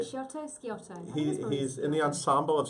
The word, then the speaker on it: Sciotto: Sciotto.